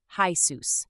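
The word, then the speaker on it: Jesús: enter Spanish or Latin America and there it's pronounced as hus same spelling different vibe it throws people off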